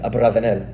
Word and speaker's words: Abravanel: Uh I I think I think the Sephardim pronounce it Abravanel, right?